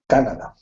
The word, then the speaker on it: Canada: In English, well, the word has the emphasis on the first syllable, so it's Canada. Canada.